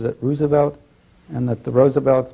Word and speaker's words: Roosevelt: the series of bedrooms were he and Eleanor Roosevelt and his mother lived over the number of